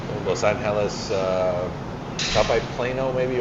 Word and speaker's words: Los Angeles: go to uh Lo well it's Los Angeles if I just you know say it right but Los Anis uh Top by Plano